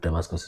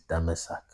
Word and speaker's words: Damascus: The way Damascus is properly pronounced. Damascus is Greek sounding. The real way to pronounce Damascus is Damasak or Damasak.